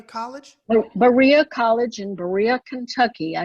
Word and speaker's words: Berea: for Women at, how do you say it, Berea College? Berea College in Berea, Kentucky.